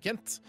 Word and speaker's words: Kent: Vi skal høre Kent, eller Kang, som du uttaler. Så det egentlig uttales.